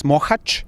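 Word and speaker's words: Mohács: Now, what are the experiences in Mohacs and I may be pronouncing it incorrectly, but you're very close. Mohacs.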